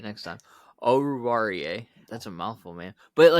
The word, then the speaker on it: Oruwariye: Is it Owuzie? Is that how you say his name? Oruwariye. Okay. I'll get it right next time. Oruwariye.